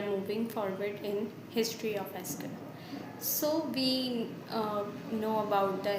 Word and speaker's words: SQL: So, now it was SQL, but in 1974, the people pronounce SQL to SEQUEL. Now also some persons and some of them are saying uh pronounce the SEQUEL, but we are pronouncing the SQL.